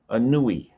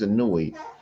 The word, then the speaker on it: Anui: So it's A N U E, Anui. See, that's how we so you can't pronounce his name without looking at this plural. So these are syllables A N Oh, U wow. Yeah. E, Okay. right? And so his name is Anui.